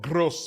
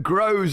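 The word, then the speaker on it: Groß: I know it's spelled gross, but Grow. It's pronounced Grow, no?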